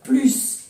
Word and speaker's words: plus: Sí, también se pronuncia la S del símbolo matemático. Por ejemplo, 4 plus 2 font 6. 4 plus 2 font 6.